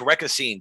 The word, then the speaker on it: Recoussine: you go perfect yeah it's actually easier than it looks it's wreck a scene think destroy scenery and you've got a